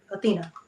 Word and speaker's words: Athenia: eye in here but it was still pronounced athena okay and your paypal